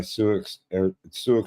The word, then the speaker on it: Sioux: Snap-on air tools are made by Suix tools. Like Suix, like SIOUX.